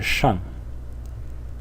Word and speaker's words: 上: This one will be about the Chinese character shang. Shang. In the fourth tone.